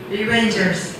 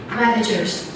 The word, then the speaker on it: Ravagers: Rangers. That's wrong. You will get the point if you can pronounce correctly. No answer? No answer? Ravagers. That's Ravagers.